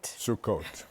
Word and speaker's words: Sukkot: How do you pronounce it? Sukkot. Sukkot.